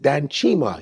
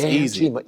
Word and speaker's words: Danchima: I said, Danchima. He's like, Danchima. I said, 3 syllables. It's Danchima.